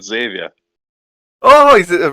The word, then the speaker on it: Xavier: He's called Xavier.